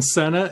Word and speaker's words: Sena: uh well a fellow spartan and that's senna and you can find out a lot more